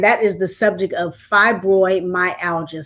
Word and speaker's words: fibromyalgia: familiar with, and that is the subject of fibromyalgia. Say hello to the people. Hello. This is Grace Kelly, Princess, if you like. Oh, Princess. All right, Princess. Now pronounce it for me again. Fibromyalgia.